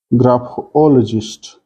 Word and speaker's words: graphologist: is on dl part graphologist stress is on ol part gerentologist the stress is